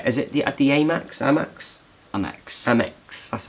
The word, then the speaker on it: Amex: Amex. That's how you pronounce it.